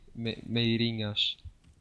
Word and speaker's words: Meirinhas: Meirinhas. How am I supposed to pronounce it? Meirinhas? Yeah, it's pretty difficult. Okay. It's Meirinhas.